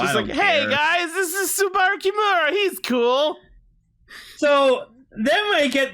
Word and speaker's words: Subaru: Either that or how you pronounce it? Sabura? Subaru? Subaru.